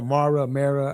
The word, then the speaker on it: Mara: Mara. Yeah. Mara. That's right. Mara. I know Mara. I thought I was pronouncing wrong.